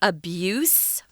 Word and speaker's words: abuse: So this is the noun form, abuse. Notice the pronunciation, guys, is the S sound, abuse.